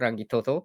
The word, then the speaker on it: Rangitoto: That's how you say it, Rangitoto.